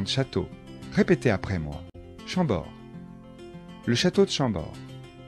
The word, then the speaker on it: Chambord: chenonceau et le château d'amboise attention de bien prononcer les noms de châteaux répétez après moi chambord le château de chambord blois le château de